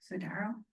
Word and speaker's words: Sidaro: Sidaro is how you say it, but he is retiring.